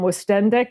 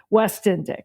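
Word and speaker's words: Woestendick: Now, I always mispronounce Cooper's last name. I call him Wendic. Is that right? Or is it West Indick? I always I want to give him Westick. West Indick.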